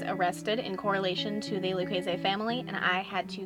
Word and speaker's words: Lucchese: Although I typically pronounce it Lucchese just because it's easier for me, I do believe the correct pronunciation is Lucchese.